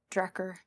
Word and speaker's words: Drakkar: The game, I think they pronounce it Drakkar.